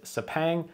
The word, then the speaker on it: Sepang: Punk or cuk like it's a very difficult pronunciation if you don't speak Malay now I was told by the commentators at the track that the English pronunciation is sapang similar to the way